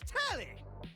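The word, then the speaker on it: Telly: The name's Tally. Rhymes with Nelly.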